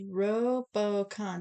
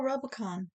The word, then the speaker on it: Rubicon: thank you Diane uh it's pronounced robocon yeah there you go Rubicon like a Robocop got it thank you